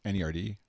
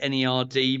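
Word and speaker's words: N.E.R.D: videos of Pharrell Williams The Neptunes and nerd NER D is that I I never know if I'm supposed to pronounce it or spell it out I I did amazing officially its NER D but yet people say no even they say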